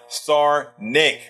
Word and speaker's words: Sarnik: Okay, it is pronounced Sarnik. Okay, I did it right, actually.